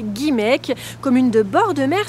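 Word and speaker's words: Guimaëc: vous accueille aujourd'hui à guimaek que vous prononcerez guimek commune de bord de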